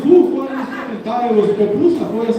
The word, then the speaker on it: pupusa: How you say it, po or pu? Popusa or popusa? Popu? Pu, okay. And I had a Salvadorian friend, he was getting mad at me, no, es popusa, es pu!